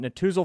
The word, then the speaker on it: Netusil: Natuzel Financial Services of Raymond James by searching online. That is spelled Netusil.